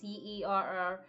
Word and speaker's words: Cerrone: He's modeled after a UFC fighter named Donald Cerrone, or Cerrone. I'm sure I'm like pronouncing that wrong. It's Cerrone.